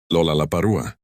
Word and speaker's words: Lollapalooza: It contains 4 L sounds in rapid succession at the beginning of syllables. Lollapalooza. For a Japanese speaker, each of these L sounds would present difficulty, making it virtually impossible to pronounce the word correctly without extensive training.